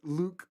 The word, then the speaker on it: Luc: to pronounce it um so it's french but it's actually just luke cool now the one